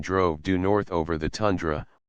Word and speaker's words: tundra: due north over the tundra a Russian word pronounced tun Dr which is a Rolling